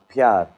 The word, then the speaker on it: pyar: Pyar.